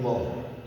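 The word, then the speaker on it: bomb: इसको पढ़ेंगे बम बी ओ एम बी B silent हो गया इसको पढ़ेंगे बम इसको एल यू एम बी D silent हो गया।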